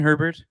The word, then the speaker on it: Herbert: Elena, do you like Justin Herbert? Yes, because his name rhymes with Sherbert.